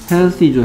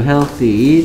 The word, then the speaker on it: healthy: Healthy죠. Healthy. 좀 기다려야 되겠네. Healthy. 어떻게 쓰죠? healthy가 아니고 healthy, th가 혀를 살짝 무는 발음, 번데기 발음.